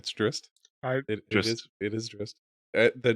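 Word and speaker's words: Drizzt: Apparently, it's pronounced Drist, which I think is stupid. I still say Drizzit. It's Drist.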